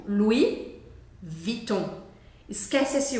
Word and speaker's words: Louis: a gente pronuncia assim o s no final do Lis a gente não fala Lui é como se fosse o nome Luiz em português então a gente fala Lui Lui ó com u